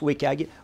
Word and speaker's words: WCAG: Et cette norme, c'est ce qu'on appelle WCAG, qu'on prononce WCAG, pour Web Content Accessibility Guidelines.